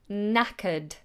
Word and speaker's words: knackered: knackered And it's a silent K. So, we just go straight into a n. na ckered knackered And in some cases, knackered means broken.